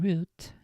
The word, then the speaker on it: route: tags to route that they're pronounced route or route I think it's technically one of those words that could be either product I know that when it's on root it's literally actually root almost 100 of the time the correct pronunciation of the word route in the US is both root and route which are interchangeable for both the noun and verb forms the way I had